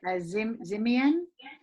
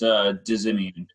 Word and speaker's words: Dizimian: I'm going to bring in, and I don't know how to say his last name, Zimian. It's Dizimian. So sorry, I messed that up, love.